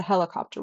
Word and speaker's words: helicopter: We don't say helicopter, and we don't say pterodactyl, but we do say helicopter.